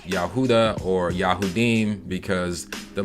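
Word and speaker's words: יהודה: say judah or jew in hebrew it would be pronounced yahudah or yahudim because the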